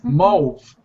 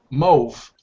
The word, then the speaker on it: mauve: Yes, mauve, mauve. It's almost like move. Yeah, the pronunciation is almost like move, but it's slight R at the beginning for mauve.